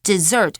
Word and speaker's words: dessert: desert 是沙漠哦，所以你们不要把 dessert 拼错，要不然你就说我喜欢吃沙漠 OK 那 dessert 则是两个 S而且你有没有发现发音也不同啊 desert 沙漠 dessert 甜点所以不可能选错吧那 B expert 专家行家这个上下文应该有点怪怪的哦他喜欢吃甜的跟这个 expert 无关 concert 演唱会音乐会这个也跟语义不符所以很明显答案只有一个就是